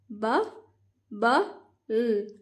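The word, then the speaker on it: bubble: तो अब हम इसे पढ़ेंगे, ब, ब, ल, बबल, ब, ब, ल, बबल। एंड वाला जो ई होता है दैट इज साइलेंट ऑलवेज।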